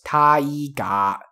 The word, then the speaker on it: Taiga: You should remember that the ga at the end stays ga, doesn't become ga. So it's Taiga, Taiga, 3 syllables.